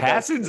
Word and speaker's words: Passan: Yeah, but Yeah, I thought that Passon's a savage on Twitter sometimes.